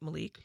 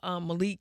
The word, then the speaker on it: Malik: So we're not pronouncing it Malik. Man, thank God we're not. Yeah, it's Malik.